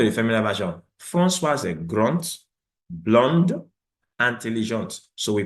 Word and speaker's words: grand: We have François est grand, the D is not pronounced. Blanc, the D is not pronounced. Intelligent, D is not pronounced. But come to the feminine version. François est grand, blonde, intelligent.